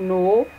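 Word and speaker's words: know: Next example है, हाउ डू यू नो how high the mountain is. तो इसमें जो है नो का के और डब्ल्यू और हाई का जी एच जो है वो साइलेंट है या म्यूट कॉन्सोनेंट्स हैं।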